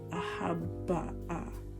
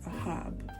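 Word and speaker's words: אהב: and would be pronounced ahabba'a. And that's not how you pronounce this. This is ahab, not ahabba, not ahabbaha. Ahab.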